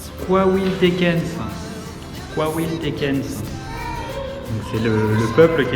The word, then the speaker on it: Coahuiltecans: Alors, ça se prononce Coahuiltecans.